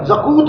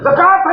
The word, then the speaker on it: زکوٰۃ: تلفظ میں صلاۃ ہے، زکوٰۃ زا کاف واو تے ہے لیکن تلفظ میں زکوت نہیں ہے، زکوٰۃ ہے۔ اسی طرح میم شین